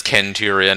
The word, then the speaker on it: Centurion: be curious is yeah I pronounce I pronounce when Caesar as kais are Centurion as Ken Tyrion and and Charon as Caron because if I remember correctly he that was how that was actually how the Greeks pronounced it the cnch sounds they pronounce them like K's but yeah I am